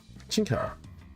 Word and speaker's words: Qingdao: I'm not really sure on pronunciations for. Qingtao. Jingdao. Okay, gotcha. Qingdao.